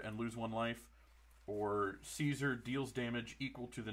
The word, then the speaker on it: Caesar: playing Caesar Legions Emperor I know in the games they pronounce it kaisar but I don't care it's Caesar um he's mardu um he's